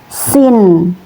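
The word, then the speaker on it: سين: Cara melafalkannya sin itu ketika belum diharakati. Tetapi kalau sudah diharakati seumpamanya ini harakat fathah ya. Ini harakat fathah. Berarti cara bacanya sa ya.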